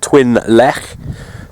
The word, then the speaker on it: Twyn Llech: you that speak welsh i think it's pronounced twin lech t-w-y-n l-l-e-c h um or no h i'm not sure but uh it's pretty